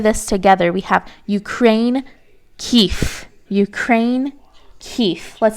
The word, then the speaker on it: Kyiv: The capital of Ukraine is Kyiv. Make sure you're pronouncing it with an F and don't be tempted to use that V because it's pronounced with an F.